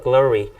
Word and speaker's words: glory: glory. 영어로 발음할 때 좀 어렵죠. 여기는 L 사운드, 여기는 R 사운드여서요. glory 이렇게 되는데요.